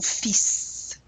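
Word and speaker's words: fils: Saff his son son fis oh this is an exception isn't it you do pronounce the S at the endple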